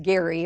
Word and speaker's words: Gerry: governor Elbridge Gerry and it was actually pronounced Gary although it got changed